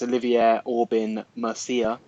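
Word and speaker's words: Olivier Aubin-Mercier: We've got Alexander Hernandez versus I can't pronounce his name, but I think it's Olivier Aubin Mercier.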